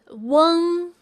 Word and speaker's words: ueng: 非常好。UENG is pronounced as Weng.